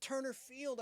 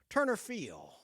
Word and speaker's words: Turner Field: pitcher for the Dodgers Turner Field he never would pronounced the D You' say Turner Field it was a Turner Field the Braves don't play